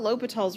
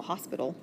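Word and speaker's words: L'Hôpital: even said it right i can't tell you how many people look at this and tell me it's the hospital it is not the hospital it's l'hopital's rule l'hopital's rule you've seen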